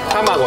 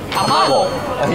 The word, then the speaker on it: 卵: 卵は終わって卵じゃなくて卵卵い分かってきましたねシさん分からないイントネーションが分かってきましたね